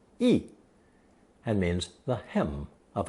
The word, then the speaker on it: 衣: It's pronounced fourth tone, 衣, and means the hem of a garment.